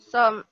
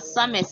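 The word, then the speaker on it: sommes: Some. S-O-M-E. Okay, guys, it's not summis, okay, it's some. It's pronoun, it's spelled summis, but it's some.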